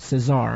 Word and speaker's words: Cesar: shot the guard Fain Eugene Caesar although I've heard people pronounce it Cesar and I'm not sure which but Thane Eugene as